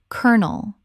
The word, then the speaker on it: colonel: Word 277, colonel. Already covered but worth repeating because it is so extreme. Colonel, two syllables, rhymes with kernel.